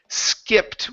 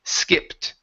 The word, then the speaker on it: skipped: and your last one is skipped with a short I instead of ski skipped okay it's a skit skipped skeptic out one more time instead of scare ski raised the tongue just a little bit more skipped it skipped there